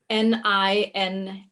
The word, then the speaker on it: Nina: Her name is Nina, almost like Ina. Just put an N before. Okay, well, that's easy to remember. Yeah, How does she spell it? Nina.